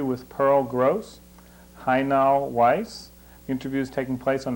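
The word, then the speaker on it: Weisz: at the moment i was born high now weiss how do you spell that hi now is h-a-j-n-a-l why is this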